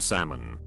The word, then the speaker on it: salmon: My brother is currently dealing with his wife pronouncing the L in salmon.